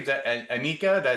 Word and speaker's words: Anyika: But Macey and your last name is Anika. Did I spell that right?